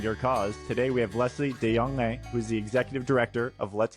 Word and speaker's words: Lesley de Jonge: Today we have Leslie Deong, who's the executive director of Let's Keep the Ball Flying.